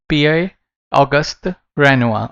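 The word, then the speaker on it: Pierre-Auguste Renoir: But इसको कैसे pronounce कर सकते हो आप? PI ऑगस्ट रेनुआ, okay.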